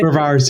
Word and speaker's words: Mehrvarz: Uh, uh, Mervas, am I pronouncing that correctly? Mervar.